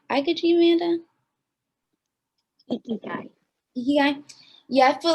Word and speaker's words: ikigai: two can really be combined because I always pronounce it wrong too. Is it Ikaji? Ikaji, Amanda? Ikigai.